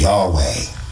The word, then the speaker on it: Yahweh: So, I took this picture when I looked it up and Jehovah in Latin, right, is Yahweh.